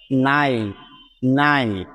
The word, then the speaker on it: nine: সুতরাং NINE মিলে হয়ে যাচ্ছে নাইন, নাইন। এখানে কিন্তু ই এর কোনো উচ্চারণ হচ্ছে না, যেহেতু সেটি শব্দের একেবারে শেষে আছে।